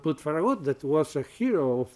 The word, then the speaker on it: Farragut: you have forgot to put, I will not pronounce very good in English, because in Catalan it's Ferragut. But in English is, Farragut. No, he said, why you have not put Farragut?